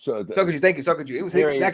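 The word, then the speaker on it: Sokoudjou: Sokoju. Sokoju, thank you, Sokoju.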